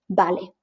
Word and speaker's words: vale: be able to, because you know that B and V are the same. They are pronounced the same. So here in this case, well, it's a B always. So in this case, you look at vale and you know this is going to be vale.